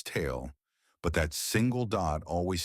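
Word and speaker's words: ت: It represents a clear t sound, similar to the t in the English word top, just like ba.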